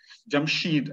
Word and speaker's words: Jamshid: language is found as jamshed jamshid as iranians would pronounce it so jamshed is uh